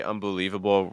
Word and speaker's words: unbelievable: he tried to say unbelievable right around there unbelievable unbelievable that's higher unbelievable unbelievable um so and remember that Lee is going to be your stress right unbelie and everything else